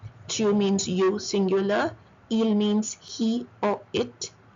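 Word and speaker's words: ils: Il, S is once again silent, it means they.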